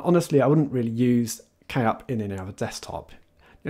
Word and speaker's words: Kup: backup tool called k-up i believe that would be pronounced i don't think that's just cup i'm sure it is k-up so it is a